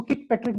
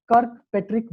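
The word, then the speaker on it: Kirkpatrick: कर्कपैट्रिक model, कई लोग इसको किकपैट्रिक बोलते हैं। I request you ऑल एज a trainer, please use कर्कपैट्रिक model, not किकपैट्रिक, कर्कपैट्रिक model.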